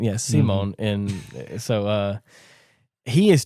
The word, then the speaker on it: Simon: And is pronounced Simon Simone. Yeah. Simone.